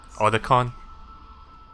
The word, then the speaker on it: Otacon: makes sense I just put I just prefer or the con like the way the way snake says that because that's like the most iconic pronunciation bad let's get out of here snake